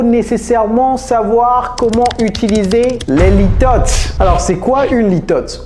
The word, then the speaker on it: litotes: Litotes en anglais, c'est litotes. Avec le S, litotes.